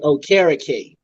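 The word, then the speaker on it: Okereke: uh somebody's podcast and it's pronounced like carrot cake so like oh karaoke his parents came to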